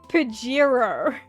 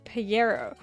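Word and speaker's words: Pajero: um which is marketed uh it's it's pronounced Pirro here there's a car that is marketed and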